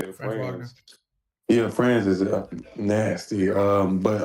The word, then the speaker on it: Franz: I think Orlando next man up is better, which is Fran Wagner, how you say it? Franz.